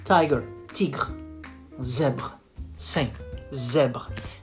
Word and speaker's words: tigre: You say un tigre. Un tigre. It ends with an E, but the final E is silent in this case.